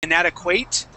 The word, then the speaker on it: inadequate: Now this word here, the ending, we would not say inadequate. Okay, it's inadequate. Okay. Inadequate. That's hard. Can you repeat it, Jim? Sure, no problem. Inadequate with a short I sound.